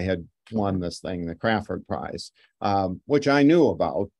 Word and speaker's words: Crafoord: Crafoord, and it's pronounced Crafoord. There's no W in it. So to pronounce it properly, it's the Crafoord Prize, not the Crafoord Prize.